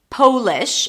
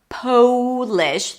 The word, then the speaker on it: Polish: This could be Polish, as in someone from Poland. Then we want to make sure that the O is pronounced with a long O sound. Polish.